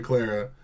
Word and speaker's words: Clara: But also, just to throw this out there, Clara, I gotta say it correctly. I know it's a C with the word Lara.